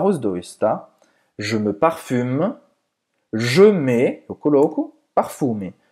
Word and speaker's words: parfum: Je me parfume. Je mets, eu coloco, parfume. Je mets du parfum. Parfum, c'est escrever parfume, mas se pronuncia parfum. Parfum, bem nasal.